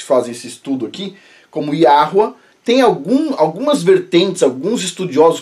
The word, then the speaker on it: Yahweh: Yud Rei Vav Rei, que, bom, a gente pronuncia aqui neste canal e em vários outros canais que fazem esse estudo aqui, como Yahweh.